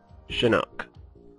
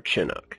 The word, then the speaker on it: Chinook: the ch47 or ch47 shinok or Chinook depends on how you'd like to pronounce it and basically a lot